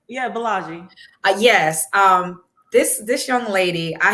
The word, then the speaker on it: Bolaji: Yeah, Bolaji.